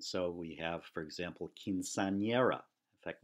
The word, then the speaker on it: quinceañera: And so we have, for example, quinceañera. In fact, notice that word has two N's. One is pronounced the way an N is normally pronounced, but the second one is pronounced like ny.